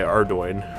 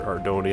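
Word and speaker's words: Ardougne: whatever with the Ogres by Ardoin, or Ardoni, however people pronounce it. Ardoin, I think that's what it's pronounced.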